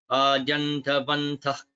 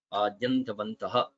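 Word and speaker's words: आद्यन्तवन्तः: Just notice that visarga at the end of adyantavantaha becomes guttural, so it's pronounced in the throat before ka.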